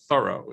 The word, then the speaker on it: Thoreau: of his name that i think a lot of thorovians pronounce it thorough instead of thoreau um i think moreover